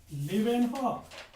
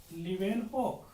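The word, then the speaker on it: Leeuwenhoek: मग so living sale was discovered by लिव्हेनहॉक. लिव्हेनहॉक spelling बघा, LEUWNHOEK, लिव्हेनहॉक.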